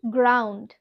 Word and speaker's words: ground: তো next one দেখো কি আছে। জি এর পরে যদি কোনো কনসোন্যান্ট থাকে তখন আমরা সেই ক্ষেত্রে জি কে গ হিসাবে উচ্চারণ করব। ফর এক্সাম্পল, গ্রাউন্ড অর্থাৎ মাঠ। এখানে আমরা কিন্তু জি এর পরে কি দেখছি? কনসোন্যান্ট রয়েছে, GROUND, গ্রাউন্ড অর্থাৎ কি?